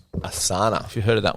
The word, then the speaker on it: Asana: So there's one called Asana. Asana. Have you heard of that one? Spell it.